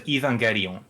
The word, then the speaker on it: Evangelion: The G is a hard G like lasten.